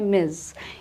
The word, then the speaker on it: Ms: MS यूज़ करते हैं, जिसकी प्रोनाउंसिएशन है मिस।